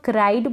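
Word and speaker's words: cried: इसको हम क्राइड पढ़ेंगे, क्रिड ना पढ़ें, सी आर का क्र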